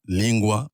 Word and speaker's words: lingua: Pour lingua, normalement en français on dirait linga, mais le GU se prononce OU. Oui. G-U-A, lingua, aussi bien en latin qu'en kikongo ou en lingala.